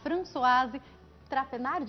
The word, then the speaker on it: Françoise Trapenard: E nós conversamos também, recebemos aqui hoje, a Françoise Trapenard, assim que se pronuncia.